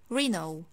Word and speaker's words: Renault: the last car brand in this video i pronounce it like reno renault reno for example he bought a new renault car